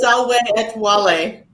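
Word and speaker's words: salve et vale: quick yes go ahead the phrase that looks like sav at vale is pronounced salwen wale oh yes that's part of our closing it means alien farewell in latin solway at wally okay it's it's kind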